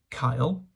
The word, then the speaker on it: cael: yes so to recap Kyle pronounced like the boys named Kyle or like a scouser would say calf if you're a westerner